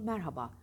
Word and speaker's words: merhaba: ister diyafram gücü ister O yüzden Merhaba demeyin ezmeyi kelimeyi bozmayın orjinalliğini özgürlüğünü nedir doğrusu Merhaba orada ortadaki Hey unutmayın Herkese merhaba değil merhaba